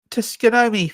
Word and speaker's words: Tsukuyomi: Did I mention my amazing Tsukuyomi fight last time?